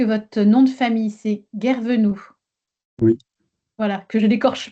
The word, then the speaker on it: Guervenou: On est bien d'accord que votre nom de famille, c'est Guervenoux.